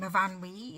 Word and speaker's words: Myfanwy: instance Myfanwy is with the name Myfanwy is spelt double F, but there's no F said. It's said with a V sound, so different things are